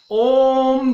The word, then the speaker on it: ओम: अर्थात ओम ध्वनि का जो उच्चारण किया जाता है वह उच्चारण प्रदीर्घ होता है, इसलिए उस प्रदीर्घ उच्चारण वाली मात्रा को प्लुत मात्रा वहां पे कहा जाता है।